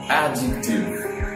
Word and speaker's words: adjective: There are three syllables in this word, adjective, adjective. Whenever we get the letter D before the letter J in the middle of a word, usually the letter D remains silent, like adjacent, adjacent is not adjacent.